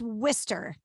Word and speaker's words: Worcester: than you've discovered it yeah so yeah it's worcester worcester all right worcester massachusetts yeah first question